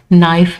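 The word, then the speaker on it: knife: जहां पे भी आपको पीएस पी एन या के एन नजर आए ना ये आपने याद रखना है। पीs pn और kn तो उसमें पी और के जो है वो साइलेंट होगा। हमने एस से स्टार्ट करना है साइकोलॉजी। ठीक है? और इसी तरह ये नाइफ में हमने के को साइलेंट रखना है।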